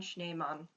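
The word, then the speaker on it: Schneemann: snowman um but uh if you want to know the pronunciation schneymon is how you say it in german but uh yeah this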